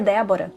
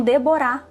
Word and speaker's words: Débora: pela primeira vez e o nome ele falou com a entonação Déborá, só porque tinha o H no final.